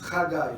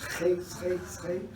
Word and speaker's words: Chagai: pronounce my name, because if I'm going to write it in English letters or Dutch letters, it will be Hachai or Chagai or Shagai, but it's Chagai, like it's Chagai.